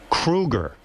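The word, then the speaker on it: Kroeger: And Chad, you know, your last name is Krueger. Thank you. I don't know if you're pronouncing it wrong. That's how you say it.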